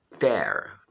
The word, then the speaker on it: tear: O próximo verbo que temos aí é esse verbo tear. Tear, é assim que pronuncia esse verbo, que significa rasgar.